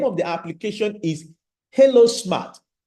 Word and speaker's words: Helo: The name of the application is Hilo Smart. Hilo is spelled Helo.